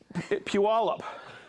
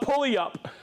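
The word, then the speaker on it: Puyallup: got corrected when I was in Oregon it's peal up but I used to call it pulley up derk's been watching you I've been watching oh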